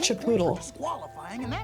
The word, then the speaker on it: Chipotle: It's pronounced Chipotle.